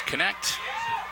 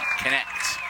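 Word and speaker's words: Knecht: As Connect. K-N-E-C-H-T. Connect. It's pronounced the German way.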